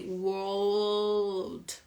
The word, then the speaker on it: world: the the word old if you put them together War plus oh old but with doing the L you can you can